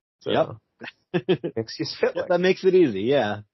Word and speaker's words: Mxyzptlk: one of the episodes breaks down his name into 4 distinct parts: mix, yes, spit, lick. So, yep. Mxyzptlk.